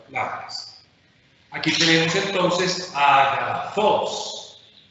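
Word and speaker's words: ἀγαθός: Agathos significa bueno. ¿El acento agudo en qué sílaba está? ¿Cuántas sílabas tiene? 3 sílabas. Por tanto, esta palabra la llamaremos, si el acento agudo está en la última sílaba. Claro, entonces aquí tenemos una palabra oxítona. La segunda palabra, ¿cómo se lee?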